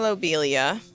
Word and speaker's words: lobelia: So, here we have edging lobelia. Hold on. I I did the I looked up the pronunciation for this.